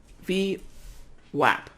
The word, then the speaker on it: VWAP: All right, so the pronunciation is V as in app, right? VWAP, that's how you say it.